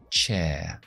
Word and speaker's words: chair: Y en el inglés estándar británico no pronunciamos R's después de vocales.